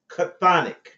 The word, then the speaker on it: chthonic: In many myths, the chthonic serpent, I want you all to write that down, because this word, this term, chthonic, is going to be very, very instructive and